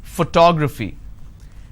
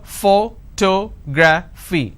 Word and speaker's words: photography: how do I pronounce photography and how many syllables do I have here photography four syllables but in this case I stress on the second syllable that is what word